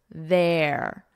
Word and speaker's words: there: Here, exactly the same as here, ear, here. But here, notice the vowel is different. Air, there, air.